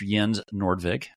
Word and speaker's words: Jens Nordvig: CEO of Market reader yen how did I do yeah you did pretty well like uh pretty pretty authentic pronunciation of my name there I get all kinds